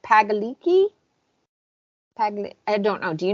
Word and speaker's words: Pagliacci: It's like Pagliacci. I don't know. Do you know how to pronounce it? So I don't butcher this and everyone hates me. I don't know. I'd have to Palici. Palici.